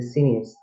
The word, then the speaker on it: sinews: on unstressed, and then sinews is 2 syllables, sin is on stress, and then news on unstressed.